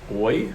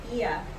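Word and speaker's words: Oia: We went to Oi, is that how you say it? Oi, Ia. Ia? Ia. Ia, we went to Ia, which is like the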